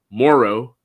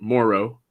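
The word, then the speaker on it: Moreau: the most confidence in Foster Morrow that's how I believe that's how you say his name I've been you know Foster Moro yes so gotta make sure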